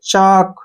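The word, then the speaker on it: chalk: एल नहीं बोलना है सी एच ए चा और के से बन गया क चाक ठीक है ना चाक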